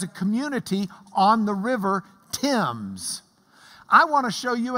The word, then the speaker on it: Thames: of the River Thames, spelled Thames because in England they don't know how to spell. But this is the River Thames, as we would spell it in Lubbock.